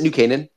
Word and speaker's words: New Canaan: of new canaan it is new is it new canaan is that right yes yes yes yes that's again he's like a pronunciation god and everything um but it which